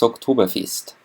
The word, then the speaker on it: Oktoberfest: Please be careful with the pronunciation of Oktoberfest. It's not October, it's October. And it's not, it's fest instead of fest. It's quite the reverse. Oktoberfest in English and Oktoberfest in Bavarian.